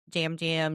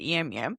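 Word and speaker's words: Yam Yam: I'm not sure because that's what I thought led to jam jam jam. Yum yum. Whatever. How you It's spelled jam jam. And we they pronounce it yam yum.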